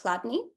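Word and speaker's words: Chladni: effects of Soundwave phenomena this is called the cadney plate which was found by a guy called Hans Jenny German pronounced cadney and it's a basic simple structure of a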